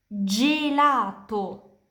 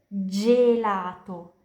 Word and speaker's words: gelato: Kapan G diikuti dari E dan I, pronunciasinya kayak J di bahasa Indonesia. Jadi, gelato, es krim. Giovane, muda. Pronunciasinya kayak jalan, jeruk. Jadi, G diikuti dari E, gelato.